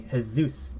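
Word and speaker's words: Jesús: Spanish Double L so for J might be a little funny for English speakers as well because the G is pronounced as the English letter H so this is actually hold up and an example of that is as I said earlier Jesus in English would be his Zeus in Spanish and here it's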